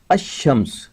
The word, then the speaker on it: الشمس: رکھا گیا ہے کہ جب شمس کے پہلے یا الف لام لگایا جاتا ہے تو لام کی آواز ظاہر نہیں کی جاتی۔ الشمس جن حروف میں لام